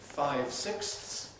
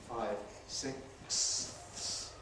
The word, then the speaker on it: five sixths: have these nice fractions 56s and 11 12ths where we get these complex clusters 56 six.